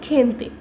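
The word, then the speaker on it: gente: लोग को पता है जब जी ई साथ में आ जाता है तो उसकी प्रोनाउंसिएशन होती है खे की, तो खे एन खेन। नेक्स्ट है हमारा टी ई, तो उसकी प्रोनाउंसिएशन हो गई ते की, तो ये पूरा वर्ड बनेगा खेनते, खेनते का इंग्लिश में मीनिंग होता है पीपल, खेनते।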